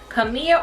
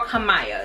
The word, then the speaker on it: Kamiyah: unit um melted hairline which is kamiya or kamaya so you can pronounce her either way but before we even